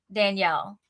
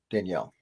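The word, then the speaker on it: דניאל: jeff you joke but my hebrew name is pronounced danielle in hebrew the female is daniela i was born in israel so my correctly pronounced name is danielle danielle asher my mother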